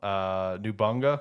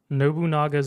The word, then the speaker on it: Nobunaga: Nubunga, is that how you pronounce it? Nope. Okay, how you pronounce it? Nobunaga's Ambition.